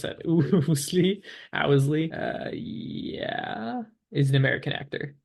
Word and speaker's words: Ousley: I definitely Oosley. mispronounced that. Ousley. Owsley.